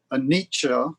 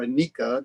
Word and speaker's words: anicca: So anicca or annica, depending on who's pronouncing it, is the truth of unreliability or impermanence.